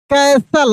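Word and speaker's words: castle: Then he left the कैसल। अब आप देखते ही सही पढ़ देंगे, क्योंकि तुरंत आप समझ गए कि यहाँ पे टी का उच्चारण नहीं होता, टी साइलेंट रहता है, ठीक ना।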